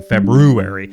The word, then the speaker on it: February: I shouldn't say everybody most people say February mhm but we all know that we're supposed to be saying February it's like it's like you and realators it's spelled that way but you say realtor why why is there that R in February nobody yeah like you